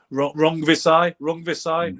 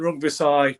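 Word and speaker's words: Rungvisai: Rongvisai is the way you say his name, I believe.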